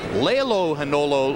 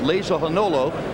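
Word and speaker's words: Lehlohonolo: leano had ledwaba incidentally the name looks like Leo Hano ledwaba and his tribal interpreter speaking the tutu language told us it should be pronounced Leah Hano even though we don't see an s in there so we go with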